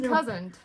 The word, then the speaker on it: cousin: There's no T in cousin, but we will throw a T in there, and my husband's like, really, Nancy?